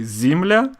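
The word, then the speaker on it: земля: the ground Joomla Joomla why do you think it is spelled Z Amelia well because it is the correct spelling and when we say Zemlya that's simply because the pronunciation of the unstressed yeah is more like a similar very good all right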